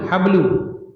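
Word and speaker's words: حبل: Kemudian atiqu berarti mansubnyaq atriqo ini juga isim mufrad apa artinya tariq jalan jalan kemudian alhabl hablu iya apa habl pakai ha bukan jim tali tali tali ya tali alhablu ya kalau dinasabkan berarti al habla fathah.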